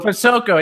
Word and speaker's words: Posocco: Posocco? Posocco.